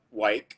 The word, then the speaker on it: Wyck: your last name uh White oh listen I don't care how people pronounce it as long as they are calling right but it's white it rhymes with hike pipe okay bike bike um